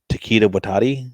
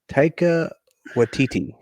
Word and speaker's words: Taika Waititi: my bad opinions, my mispronunciation of Taquita Watati. Is it Taquita Watati? Taquita. Hakuna Matata. Taika Waititi.